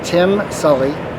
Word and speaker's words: Tim Sully: so what's your name my name is tim sully nice it's spelled t-i-m-s as in sam s-u-l-l-y and i'm